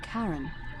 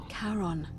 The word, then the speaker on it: Charon: The name you heard wasn't Karen. It was C-A-R-O-N, as in Charon, the ferryman of God, the dat had ik dead.